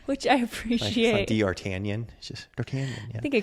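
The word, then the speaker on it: d'Artagnan: what it's not which I appreciate dartanian just dartan I think I called him de artigon or something is how it's spelled D I think there's a g in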